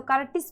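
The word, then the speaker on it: courtesy: तो इसका उच्चारण क्या होगा? 'ए', जैसे कर्टेस।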